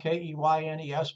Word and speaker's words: Keynes: I know his name is spelled K-E-Y-N-E-S, but it's pronounced Keynes, just like candy cane with an S on the end of it.